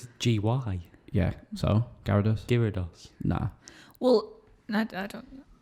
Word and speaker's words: Gyarados: kids like what the hell is it gyarados gyarados this is g-y yeah so gyarados gyrados nah well i don't know no let's not